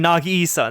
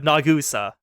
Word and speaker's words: Nagusa: That's what I'm saying the name wrong. I'm saying Nagisa instead of Nagusa.